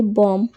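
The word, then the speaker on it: bomb: होता है तो फ्रेंड्स जब भी एम के बाद बी आए तो बी हमेशा साइलेंट रहता है जैसे एन यू एम बी तो इसको हम पढ़ेंगे नम बी ओ एम बी इसको हम पढ़ेंगे बम सीओ एम बी को हम पढ़ेंगे कॉम टी एच य एम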